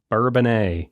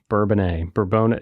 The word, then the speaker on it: Bourbonnais: I think they're finally like, nope, it is Bourbonnais. Yeah. We're making it Bourbonnais. There should be a fine for every time someone mispronounces it.